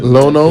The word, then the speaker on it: Lionel: But, I'll tell you just 'cause gonna we- say his name wrong? We've been calling him Lionel all these years.